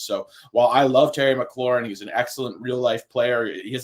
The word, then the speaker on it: McLaurin: See, McLaurin, right? McLaurin.